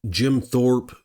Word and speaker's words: Jim Thorpe: so there was a recent bear attack in Jim Thorp Pennsylvania is how you say and what happened